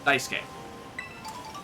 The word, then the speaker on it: Daisuke: Every time I hear S-U-K-E pronounced, I hear it pronounced Ske. Sasuke. Daisuke. So on and so forth. Well, if that's how you pronounce it, U is silent.